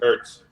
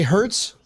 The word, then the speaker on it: Ertz: Zach Ertz. right. Did you say Hertz? Ertz is a moving company.